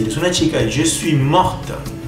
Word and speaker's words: morte: Si eres una chica, je suis morte. Al agregar la E, la T se va a pronunciar. Sin la letra E, la T no se pronuncia.